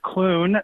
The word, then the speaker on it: Clune: to correct you on my last name it's Clun no I'm sorry I'm sorry I'm not that